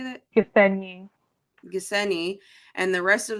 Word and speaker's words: Gisenyi: Gisenyi.